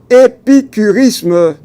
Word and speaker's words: épicurisme: Vous voyez bien, épicurisme, c'est on peut l'épeler, le prononcer ainsi, E accent aigu, P I C U R E R I S M E, épicurisme.